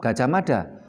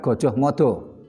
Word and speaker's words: Gajah Mada: Membacanya tetap Gajah Mada, bukan Gojoh Modo.